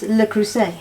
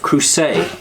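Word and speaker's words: Le Creuset: who say what well it's pronounced the crew say oh because it's French yes crew say you can you give you if you try to remember as a crusader just crew say duh duh duh so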